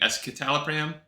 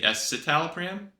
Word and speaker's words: escitalopram: other video I guess I was pronouncing it escitalopram and it's supposed to be esalo pram like it's a soft C or yeah and uh